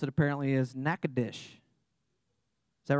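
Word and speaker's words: Natchitoches: it that's in Louisiana the way you actually pronounce it apparently is knackadish is that right do you guys all know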